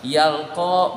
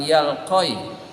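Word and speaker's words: يلقى: Yalqa bukan yalqoi, itu berarti diucapkannya dengan alif.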